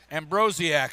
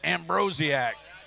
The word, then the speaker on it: Ambrosiak: Ambrosiak, I bet that's it. Ambrosiak. I think I got it. I was trying to shorten up them syllables. I got to need to add some more.